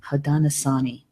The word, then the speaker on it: Haudenosaunee: If you could sometimes let me know, am I pronouncing that correctly? Haudenosaunee.